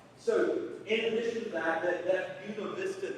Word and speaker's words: Buena Vista: It's not Buena Vista. It's Buena Vista. Because in Virginia, they pronounce everything wrong to tell whether or not you're a Yankee.